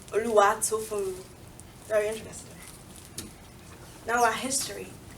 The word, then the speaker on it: Tofunmi: So if you want to say my name, you literally have to sing it. So it's Tofunmi.